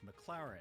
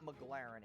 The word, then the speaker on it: McLaren: because he couldn't pronounce McLaren he says the name wrong like eight times in a row it's not McLaren it's McLaren okay so that's how